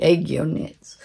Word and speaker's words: Aegyo Knits: I'll say it properly, Aegyo Knits.